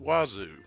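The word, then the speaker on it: oiseaux: fact of the day the work AO is the French word for birds and it's Pro pronounced wazu okay the work wazu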